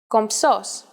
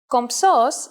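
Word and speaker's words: κομψός: And even though writing it isn't that hard, saying it is a little tricky, since you have to combine the m and the ps sounds. For the moment though, let's concentrate on the writing part. Kompsos.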